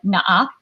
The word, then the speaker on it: NAP: So we like to joke that, we Filipinos call it naa. You would say it in a Filipino accent.